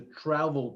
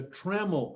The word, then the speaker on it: trammel: it needs is a travel point it says right there and that's not correct it's a trammel point it's spelled t-r-a-m-m-e-l trammel point and it's the basis